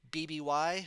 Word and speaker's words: BBY: Said to have murdered everyone in their family by 65 BBY. I pronounce it BB, like baby.